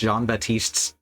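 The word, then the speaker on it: Jean-Baptiste: most is is that he mispronounced John batist tab's name he he decided to pronounce a p that isn't there which is a name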